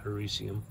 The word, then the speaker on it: Hericium: it was a a herikium mushroom i have a tendency to pronounce it that way but i think most people pronounce it harissium you know but it's